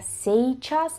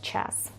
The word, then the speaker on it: сейчас: se debería pronunciar se chas, pero no se pronuncia así en el habla y se pronuncia chas.